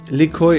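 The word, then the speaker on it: Lykoi: tales of cats and catacombs by the way likhoy is the english pronunciation of the greek word liki which means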